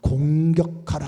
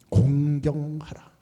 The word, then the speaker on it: 공경하라: 발음을 잘 하시길 바랍니다. 내 부모를 공격하라 하면 안 돼요. 공경하라.